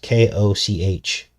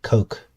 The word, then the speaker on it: Koch: there's something strange going on there yes Coke k-o-c-h a lot of people are making fun of me because I was calling him Koch at first I didn't know how to pronounce his name but it's actually Coke and there were deals cut behind the scenes